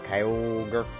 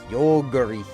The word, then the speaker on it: Kyogre: I was doing some Kyogre Kyogi, which I love how Kyogre and Kyogi are both both pronunciations I've heard.